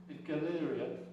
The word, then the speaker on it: Galleria: called The Galleria model you know Galleria where you go do your shopping but it's spelled the same way it's it's pronounced Galleria rather than what do